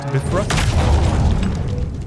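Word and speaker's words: Bifröst: It should be pronounced Bifrost.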